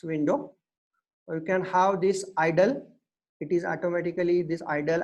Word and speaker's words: IDLE: Idle is the, you can say that it is the idle is the software IDLE. Okay, I'm pronouncing as idle.